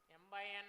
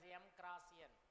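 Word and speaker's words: m × n: is m by n You are not supposed to call it as or pronounce it as M cross N or M into N. You are supposed to say it as M by N.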